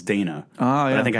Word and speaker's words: Dana: I always thought her name was Dinah, and it's Dana.